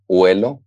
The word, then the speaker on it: huelo: Но когда мы его спряжаем, то «о» меняет на «у», и перед «о» добавляется «h». Okay. Например, «yo huelo». Но при этом оно не читается. Да, но это не, она не читается, да.